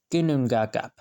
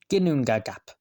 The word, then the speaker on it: Ginnungagap: Ginnungagap. Pav, the baby is trying to learn English. Ginnungagap. I'm not joking, that's how you say it, I think. Gin, noon, gag, app. Ginnungagap.